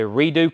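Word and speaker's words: Redux: oh jam new blood the redo club i'm assuming that's how you pronounce that r-e-r-e-d-u-x redo club dallas 1987.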